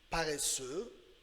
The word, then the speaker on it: paresseux: Après ça, on a il est paresseux. Il est paresseux means he is lazy. He is lazy. Paresseux. So silent X.